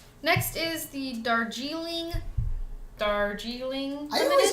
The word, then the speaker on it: Darjeeling: So apparently it's Darjeeling. Pronounce it Darjeeling.